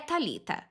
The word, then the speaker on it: Thalita: É Thalita.